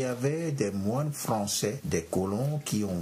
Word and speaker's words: Des Moines: Le nom de la capitale de l'État d'Iowa est des moines, comme dans la portion de phrase « la prière des moines ». C'est typiquement écrit en français, mais aux États-Unis, cela se prononce « Des moines ».